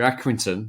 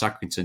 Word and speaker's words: Accrington: for League one this weekend I can hear accrington that's the way you pronounce accrington just so you know Michael they're taking not